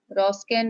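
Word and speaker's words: Wronskian: उसमें हमने क्या करना होता है, रॉन्स्कियन मेथड है, W यहाँ पर साइलेंट है, ठीक है।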